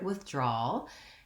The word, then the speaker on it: withdrawal: is, first of all, we have the W sound at the beginning. And so for some speakers of English, the W is challenging because you may have a tendency to say something closer to a V sound or something that's between